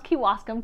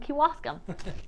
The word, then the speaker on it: Kewaskum: you pronounce me Waskom Kewaskum quinoa scam okay that's how you pronounce Kewaskum Kewaskum good to know okay